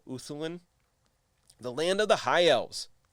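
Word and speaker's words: Ulthuan: the i think you'd i'm pretty sure you just kind of don't pronounce the l uthulin the land of the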